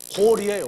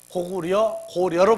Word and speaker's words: 고려: 고구리, 고리예요, 원래. 발음이. 뭘? 그래서 고구리, 고리인데 후대에 이 번역하는 사람들이 일본 사람들 때문에 고려로 발음을 했어요.